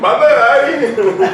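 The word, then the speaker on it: Bhandari: Can you say that with last name one more time for everybody? Because we have never pronounced it right. Yeah. Bendari. Like Bendari. B-E-N... B-H-A-N-D-A-R-I. Oh, damn. Not Bendari. Yeah. Bendari. Or Bandahari. Or Bandahari. Bandahari.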